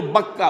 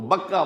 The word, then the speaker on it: بکہ: جو بکہ میں ہے۔ بکہ اور مکہ یہ ایک ہی لفظ ہے۔ تورات میں بکہ کا لفظ آیا ہے، قرآن مجید میں مکہ۔ یہ تھوڑا فرق جو ہے یہ تلفظ کا ہو جایا کرتا ہے مختلف زبانوں کے اندر۔ جیسا کہ آپ کو